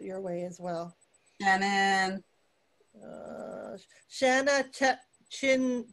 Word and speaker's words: Shanna: is also out your way as well shannon shanna chin chinoweth spell that so shanna is s-h-a-n-n-a and her last